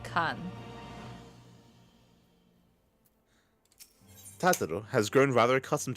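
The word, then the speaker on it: Khagan: By the way, they spell it Kagan, but they read it Kan.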